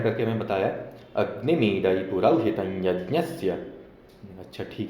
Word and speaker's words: अग्निमीळे: तो उसने पूरा उच्चारण करके हमें बताया, अग्निमीडई पुरौहितं यज्ञस्य।